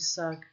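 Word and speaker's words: Sag: 2 hours later, Adrienne had gathered 28 Mishumi Sug, and, because it's spelled S-A-G but pronounced S-U-G.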